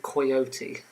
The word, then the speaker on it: coyote: I just like the fact that if it was called coyote, it's very coy, a bit shy. Well, that's how it's supposed to be pronounced, coyote, not coyote, it's not an I.